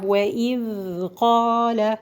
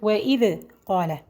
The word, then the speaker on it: وَإِذْ قَالَ: This is the correct way I did now. The wrong way is today to say it like وَإِذْ قَالَ. وَإِذْ. No. Why did she do that? Because she didn't leave the time for the dal to run.